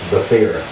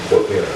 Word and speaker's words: Zafira: How do you say her name again? Zafira. Zaphira. Zafira.